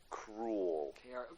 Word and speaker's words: Krule: But it's spelled Krule. Cruel.